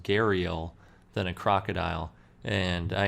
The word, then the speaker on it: gharial: a head that more resembled, I think it's pronounced gharial, than a crocodile.